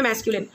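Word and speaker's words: masculine: वन इज मैस्क्यूलिन, देखो कैसे spelling याद करने, मैस्क्यूलाइन, बट बोलने में मैस्क्यूलिन, which is यूज for mails या बॉयज़।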